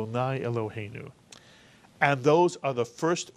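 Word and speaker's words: Eloheinu: all blessing water life Irving Our God except it's not Irving it's elu and those are the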